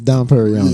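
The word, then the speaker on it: Dom Pérignon: They brought in a monk named Don Perignon or Don Perignon. It's Don Perignon. Yeah, Don, but his name is Dom Pierre Perignon. That's not how you say it.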